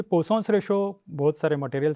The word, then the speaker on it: Poisson: हो हमारा elastic constant इसको बहुत सारे लोग मिस प्रोनाउंस करते हैं जैसे पॉइस कहते हैं पर एक्चुअल प्रोनाउन इसका है पोसन आपसे आपसे अनुरोध है